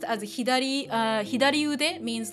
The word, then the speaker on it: 左: I mean that that kanji is actually normally pronounced as a hidari uh hidari ude means like left arm so